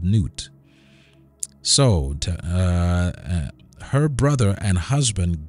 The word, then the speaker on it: Nut: All right, let's go on to Nut, or Nuit, or Newt. Her name is pronounced Newt.